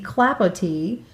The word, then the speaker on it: Clapotis: the very popular pattern the clapot it looks like it's spelled clapotis c l a p o t i s and this is a